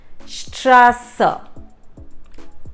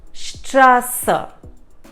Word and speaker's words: Straße: Yes, that is Straße. Straße. So you see you can also substitute the SZ with a double S. So like you see, it has that sound of using a double S. Straße.